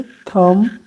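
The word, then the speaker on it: thumb: थम, जिसमें B silent है।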